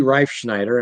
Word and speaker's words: Reifschneider: It's D Reifschneider, and it's spelled for you there on the screen if you're watching the video.